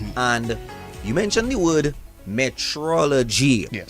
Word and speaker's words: metrology: is not meteorology is metology. It's a completely different spell.